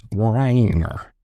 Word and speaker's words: Breininger: So it's B R E I N I N G er. It's Bryanger.